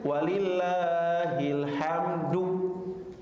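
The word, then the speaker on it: ولله الحمد: Kadang-kadang kita bacanya salah. Walillah ilham jadi ilham. Jadi si ilham ke bawah-bawahnya. Yang benar walillah ilham.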